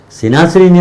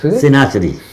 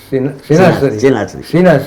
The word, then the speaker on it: Ithna-Asheri: હવે ત્યારે to pronounce Ithna-Asheri was not easy. They say, Sinasriની મસ્જિદ બને છે. Shia Ithna-Asheri. Ithna-Asheri.